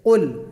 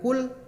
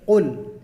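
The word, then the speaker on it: قل: Oke, berarti kalau ketika membaca surah Al-Ikhlas teman-teman harus membaca seperti qul, bukan kul atau kul, tapi qul. Harus dari pangkal lidah bagian belakang ya Ustaz.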